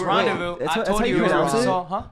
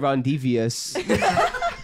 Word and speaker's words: rendezvous: It's Rendezvous. That's how you pronounce it? What? Rendezvous? How are you pronouncing it? Rendezvous? I was like, Rondevious.